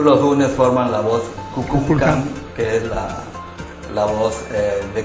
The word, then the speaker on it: Kukulcán: que si tú los unes forman la voz Cuculcán, que es la voz de Cuculcán, por lo